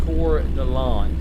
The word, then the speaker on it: Coeur d'Alene: Pronounced Coeur d'Alene.